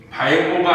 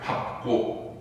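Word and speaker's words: 밟고: 보통 리을 비읍은 리을로 가야 정상이지. 근데 얘는 어때? 발고가 아니라 뭐야? 밥고.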